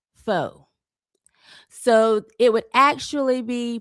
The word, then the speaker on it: faux: And listen, I understand that f a ux is pronounced foe. So, it would actually be pronounced folksy brown, I guess, right? But I also understand that there are people who pronounce f aux as fox because I have heard some of you say